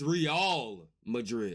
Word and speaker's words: Real Madrid: Oh, it's Oh, it's Real Madrid.